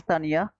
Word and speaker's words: Tanja: Brother Titu is Tanja is pronounced as Tanya.